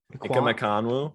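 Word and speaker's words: Ekwonu: Ikonwu.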